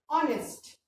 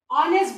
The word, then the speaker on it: honest: Now the 28th word is honest. I hope all of you know honest. H remains silent. इसमें हम H का sound नहीं निकालते. इसको हम honest बोलते.